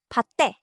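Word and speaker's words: 밭에: Then patte, in the field. Here, the t jumps forward into the next syllable.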